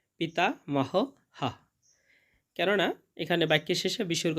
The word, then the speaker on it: পিতামহঃ: এবং শেষে আছে পিতা মহ হা। কেননা এখানে বাক্যের শেষে বিসর্গ রয়েছে, তাই জন্যে শেষের বিসর্গার উচ্চারণটা পুরো হয়ের মতো হবে, পিতা মহ হা।